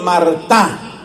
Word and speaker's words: Martin: esposos franceses de apellido mará eso se escribe Martin pero se pronuncia en francés mará los los esposos de